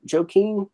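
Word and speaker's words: Joaquin: I need to see Joe Keene Buckley is that how you say it joki yeah he's actually got a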